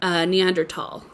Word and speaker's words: Neanderthal: pronounces it Neanderthal.